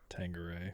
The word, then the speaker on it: Tanqueray: Tanqueray.